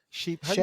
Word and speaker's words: shea: And we're going to send you that shea butter or Oh yeah, shea, but well, how do you Shay. Is it pronounce it?